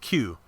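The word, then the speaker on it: 九: In Japanese, the number 3 is pronounced san, the number 9 is pronounced Q.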